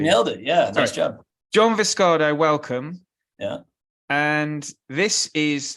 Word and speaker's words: John Viscardo: Have I pronounced that right? Actually, You nailed it. Yeah, nice job. John Viscardo, welcome.